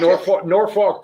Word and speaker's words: Norfolk: Yeah, if you're from here, I want to say like Norfolk because I don't want to say it the way it's phonetically. Well, there's an L in there, but apparently you don't say that.